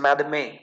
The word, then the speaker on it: madame: okay so this word it is not madam it is madame okay so we don't